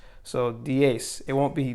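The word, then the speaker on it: diez: then ten we have dies and then also don't forget the z say pronunciation so we pronounce the z with an s so d ace it won't be dies but it'll be the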